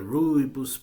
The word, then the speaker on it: rooibos: They are sticks with rooibos, the rooibos plant, which can be used for tea, to make tea in South Africa. Is a plant from South Africa. The rooibos, that's how I pronounce it anyway.